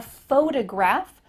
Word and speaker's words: photograph: physical thing a photograph we're going to emphasize a different part of the word faux to graph do you notice that the first syllable is emphasized here photograph compared to i'm a photographer that first part is small